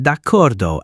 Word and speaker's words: d'accordo: I pronounce it d'accordo as if it were a single word.